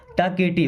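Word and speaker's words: talkative: है वेरी मीस बहुत टॉकेट देखिए एल साइलेंट है ना टॉकेट का मतलब बातूनी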